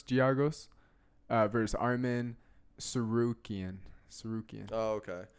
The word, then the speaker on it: Giagos: Giagos.